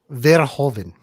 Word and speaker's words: Verhoeven: So I- how do you actually pronounce the director's back. last name? Verhoeven. Verhoeven.